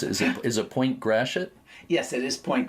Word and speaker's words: Gratiot: pronounce it, and you tell me how you pronounce it. Is it Point Gratiot? Yes, it is Point Gratiot.